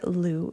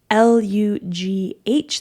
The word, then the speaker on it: Lugh: And it's from the god Lugh. So, it's spelled l u g h.